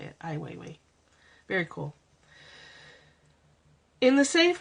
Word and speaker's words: Ai Weiwei: Ai Weiwei. That's it. That's how you say it. Ai Weiwei.